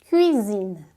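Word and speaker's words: cuisine: alerta aqui para você cuidado com a pronúncia dessa palavra tá porque cozinha de cozinhar em francês é cuina cuina cuina e prima em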